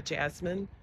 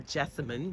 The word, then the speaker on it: Jessamine: okay because I have Carolina Jasmine or actually Carolina Jessamine the right way to say it and it loves being